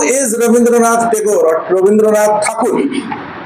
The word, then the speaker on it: Thakur: Who is Rabindranath Tagore or Rabindranath Thakur? Thakur is the word, Britishers couldn't pronounce it, so they gave the word name Tagore. They cannot call Thakur.